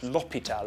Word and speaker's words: hôpital: Next feature is that the H in French is silent. It's silent when I just offended the whole country of France. Not l'hôpital with an H.